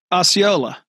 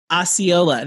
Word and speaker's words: Osceola: i'll pull up my property sheet um o-s-e-c-o-l-a osceola osceola there you go it's spelled well sorry guys you know anyway so